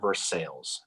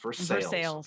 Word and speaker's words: Versailles: in the town of verse sales looks like versailles but it's pronounced versus sales okay there you go